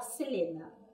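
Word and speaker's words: Celaena: Porque aqui fala Selaena, é escrita, só que a gente fala Selena.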